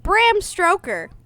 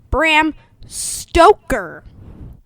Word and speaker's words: Stoker: classics edition of dracula for informing me that bram stroker sorry i mispronounced his name bram stoker the author of dracula was probably gay or